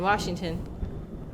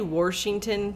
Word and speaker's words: Washington: my favorite just don't say Washington please there's no r ather that is I'm sorry I don't mean to offend anyone but it is kind of annoying when people say Washington because that's not how you say it am I being